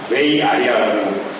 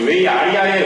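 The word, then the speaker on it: WAI-ARIA: 웨이 아리아라고 읽는다고 하더라고요.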